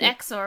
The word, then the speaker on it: XOR: in this conversation did you hear wind apparently exor pronounced X or how do you pronounce it anyway no they